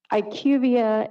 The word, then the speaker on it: IQVIA: So, Ivia is a consulting medical consulting firm and they work with companies for medical products.